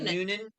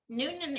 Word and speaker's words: Newnan: i'll just prompt you were they living in newnan noonan noonan georgia noonan so that's spelled uh n-e-w-n-a-n uh it is okay and